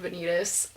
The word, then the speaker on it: Vanitas: I'm pretty excited for Vanitas, and this is controversial because we pronounce this differently, but I'm saying Vanitas.